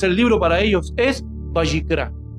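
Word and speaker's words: ויקרא: Entonces el libro para ellos es Bayicra. Bayicra, que yo no la pronuncio como ellos, pero Bayicra.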